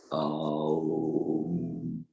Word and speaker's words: Aum: The pronunciation of Aum is Aum.